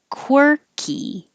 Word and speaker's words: quirky: your lips core key but six is a quer so instead of o it's you have to round your lips for the kw and then unround them for the er quirky webinar webinar thriller this